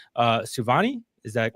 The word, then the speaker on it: Souvanny: And so uh we wanted to introduce you to Katie uh I think that it's pronounced uh Suani. Is that correct? Yes. Savani.